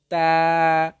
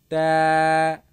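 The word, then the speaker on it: ت: এরপরে রয়েছে তা। তা।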